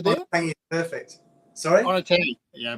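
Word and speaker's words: Onetangi: Onotangi. Yeah, I pronounced it right. Onotangi is perfect pronunciation. Exactly right.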